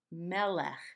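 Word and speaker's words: מלך: next word Matt laughs Mela we have that same gentle huh sound at the end of mela mela means king mela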